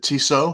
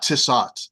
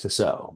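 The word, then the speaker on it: Tissot: just know it's not tsat it's I would think not I would think not I would think it's pronounced the same way that the high-end watch is and I think that's toso right this is the the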